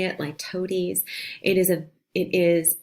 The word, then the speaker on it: litotes: A very specific kind of understatement is ladies. This is um that's how you say it. Lotes.